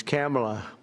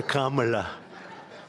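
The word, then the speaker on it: Kamla: It's Cam, right? Cam as opposed to Com.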